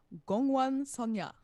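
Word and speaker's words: 공원소녀: It's from an Ago girl group, and Stephanie, I'm gonna need you to help me pronounce the name here. That would be Gongwan Sonya.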